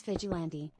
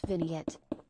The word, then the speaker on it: Vigilante: Also, it's Vigilante, not Vignette.